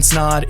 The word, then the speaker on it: Snod: My name is Ryan Snod. It Rhymes with Odd, and you're listening and watching the Rhymes with Odd podcast, where we talk all things business, entrepreneurship, and personal development.